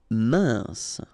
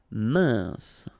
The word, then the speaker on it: mince: Mince. Final E not pronounced. I-N together. Un. Mince.